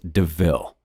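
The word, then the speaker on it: De Ville: a panther deville and points out the similarity to the word devil though it's pronounced deville estella quite likes the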